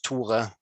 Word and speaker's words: Tore: a living song instead of but it's toure which is my name the presentation that